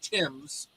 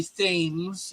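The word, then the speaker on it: Thames: H was brilant and everybody in America you know mispronounces Tims they always say themes it's not themes well that's because we're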